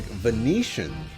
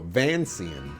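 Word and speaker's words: Vancian: D&D spell cast on so like Venetian or no van scene is actually how it's supposed to be pronounced fanzine spell casting gotcha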